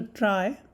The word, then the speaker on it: trie: scribble tune and constructs the try or tree however you want to pronounce it i think the word tree it comes from the word retrieval so tree data structure